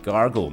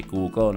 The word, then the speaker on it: gargle: toothpaste คือยาสีฟันนั่นเองครับแล้วก็สุดท้ายนะครับเวลาเราจะทำความสะอาดปากนะครับคุณผู้ชมแนะนำอีก2เรื่องนะครับนั่นก็คือการใช้ mouthwash ก็คือพวกน้ำยาล้างปากแล้วก็คือให้กลัวคอก็คือ gargle ไม่ใช่ google นะฮะ gargle และอย่าลืมนะครับสุดท้ายด้วยไหมขัดฟันก็คือ dental floss นะฮะหรือ floss เฉยๆก็คือ verb to ขัดฟันใช้กันหน่อยก็ดีนะครับเพราะบางครั้งจะมีพวกซากอาหารติดอยู่ในซอกฟันแปรงฟันก็ไม่ออกปากเหม็นฟันผุไม่รู้ด้วยนะครับ Thank you.